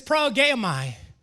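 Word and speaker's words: προηγέομαι: looking and maybe a little bit difficult to pronounce, so bear with me, but it's progeomai.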